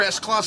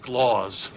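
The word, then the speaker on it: Sclause: You're S-Clause 7-1. For the last time, it's pronounced Skloz.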